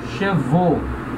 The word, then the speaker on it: chevaux: Então, cheval, plural, chevaux. Vaux, o. Travail, plural, travaux. Vaux, o.